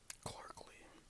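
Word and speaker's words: Clarkleigh: Clarkley. Good middle name for this one is Lee, so Clarkley Lee.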